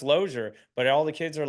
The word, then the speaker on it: Losier: like yeah you know but it's pronounced lure but all the kids